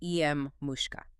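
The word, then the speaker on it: Emmuska: And in her own letters, she explained that you have to put the accent on the first syllable and the e is pronounced like an sh. So it's em mushka.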